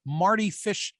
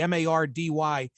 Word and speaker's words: Mardy: derailed American tennis star Marty Fish's career. I didn't know the story of Marty, which is spelled with a D, Mardy, Fish, but this is the